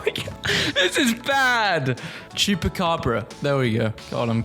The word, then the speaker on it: Chupacabra: Chupacabara. Chap. I have literally got a pronunciation on my other monitor. Hold on. Chuka. Oh my god, this is bad. Chupacabra.